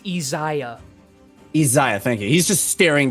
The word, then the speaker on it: Isaiah: He is like staring down fucking how do you pronounce his name again? It's Isaiah, Isaiah, thank you.